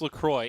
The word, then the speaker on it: LaCroix: Is that how you say it? Well, so yes, their website explicitly it's a bit of a says. toss-up. So it is, yeah, they claim it is LaCroix.